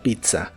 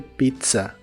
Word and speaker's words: pizza: ser esperar por la pizza o wait for the Pizza wait for the Pizza la primera Z de la palabra Pizza se pronuncia como t y la segunda como s Pizza pizza y estos